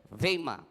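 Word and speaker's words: βῆμα: ang tawag po ay bima, or yung tinatawag natin the bima judgment. Sa ibang translation ho ay pinopronounce po nila sa Greek word ang bima na ito na bima. Vema, parang may Y, which means raised platform.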